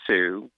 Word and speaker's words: Hsu: two Michelle yo right Stephanie Sue which is spelled Hsu and J Curtis that